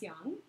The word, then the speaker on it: yang: yin and yang and most people call it yin and yang right but actually the Chinese pronunciation is Young and this is the